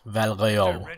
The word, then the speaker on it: Val Royeaux: We have to go and talk to the people in, well, Val Royale, is that how you say it?